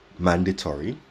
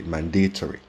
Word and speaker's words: mandatory: word mandatory for example in some englishes people say mandatory while in others people say mandatory stress is placed at a different point in the word and it's the same